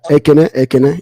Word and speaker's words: Ekene: agree a lot with Ikane. Is that how you pronounce the word? You muted, brother. Ikane. Ikane? Okay, Ikane, gotcha. I agree with a lot. Yeah. Ekene. You got it right.